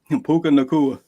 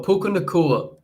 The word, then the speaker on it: Puka Nacua: I can't pronounce his name. Puka Nacua. Thank you, my brother. So Puka Nacua.